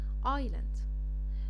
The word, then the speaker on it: island: علشان حرف الاس زي ما انتوا شايفين جه بعد حرف الاي وجه بعدي حرف الال، فبقى بالنسبة لي silent. island يا مسي ما اقولش ايسلاند؟ لا. طب ولا ايسلاند؟ لا. النطق الصحيح لكلمه جزيره هي island.